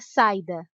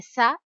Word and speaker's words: saída: Se o som do I fosse mais fraco e mais rápido, seria saída, mas não é saída, é saída. ida. Pronunciamos o som do i com clareza, em alto e bom som.